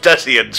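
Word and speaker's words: Desians: It's pronounced Decians, you pleb! What's so funny? No, it's definitely Designs.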